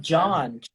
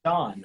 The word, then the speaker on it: Sean: So my name in the Irish language is Sean, which is S-E-A-N. Not John, Sean, right? There, Sean. So it's not anyway similar to John. It sounds a little bit like John, but it's Sean.